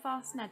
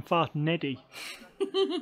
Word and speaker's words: Fast Ned: Is that a Fast Ned there? Fast Ned. I keep getting his name wrong. No, you called him Fast Neddy. Which is definitely not Neddy.